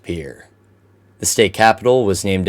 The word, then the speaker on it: Pierre: Pierre is pronounced Pierre.